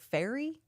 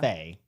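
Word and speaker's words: Fae: you just pronounced it fairy well I think that's like it's Fay it's like the Fay and then oh cuz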